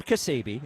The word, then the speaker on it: Ksebe: If you think it's impossible, Adam Kasebe, it is spelled Ksebe, can make it possible.